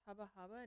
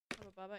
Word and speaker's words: Hubba Bubba: It's Habahhaba. No. No. Is that's the bubble gum. Build something on my world. What' you build? Cookies. Hubba Bubba. Yeah, Hubba Hubba is like you like see someone attractive.